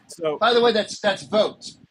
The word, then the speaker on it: Vote: Ron, so, by the way, that's votes. Pronounce it vote. VOTE.